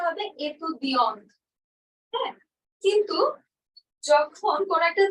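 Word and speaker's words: étudiante: তখন আমি বলবো এতুদিয়ন্ত এটা ইউজ করব আর উচ্চারণটা হবে এতুদিয়ন্ত হ্যাঁ কিন্তু যখন কোন একটা ছেলে বলবে যে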